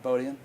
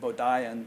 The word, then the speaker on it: Bodian: So I've been speaking with Steven Bodian and I did pronounce your name right, right? Bodian? Absolutely. Okay, good. Cuz I heard some interview with some other guy you did and he pronounced it Bodaien but then he said Jean Klein, so I figured Bodhian was the way to go.